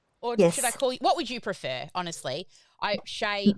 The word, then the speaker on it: Shai: Shay, my poor daughter's name is spelled Shai, and she gets shy all the time.